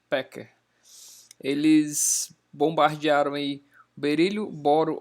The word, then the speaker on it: Becker: físicos alemães aqui ó nome dele se escreve bote e Becker mais pronuncia pote e packer eles bombardearam aí berílio